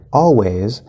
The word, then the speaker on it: always: we have the word always and that first syllable all is an l colored fifth vowel all people also say this always the z in he's